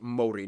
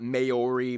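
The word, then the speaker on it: Māori: various countries like china by the way it's pronounced mori not mayori maori they use the new zealand dollar as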